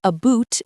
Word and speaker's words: about: Canadians say about and house a bit differently. It sounds like a boot and hoose to some ears, but it's a very subtle sound.